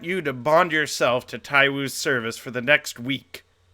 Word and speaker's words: Tywu: God damn it, it's Tywu. Cool. I think it's just the 2 syllables and it ends in an oo.